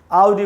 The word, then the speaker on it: Audi: Oh, I have an Audi. I don't have an Audi. इस प्रकार से बोलना चाहिए। He has bought an Audi. He hasn't bought an Audi. Audi बोलेंगे दोस्तों, ऑडी बोलना एकदम ही गलत है।